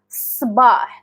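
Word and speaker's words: صباح: example something like that, that's not Sabah. It's Sabah. So, S.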